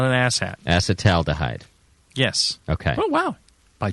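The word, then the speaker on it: acetaldehyde: should be assat alide assat alahh yes okay no you're throwing in an extra ow in there ow is not an ass hat acetal dhide yes okay oh wow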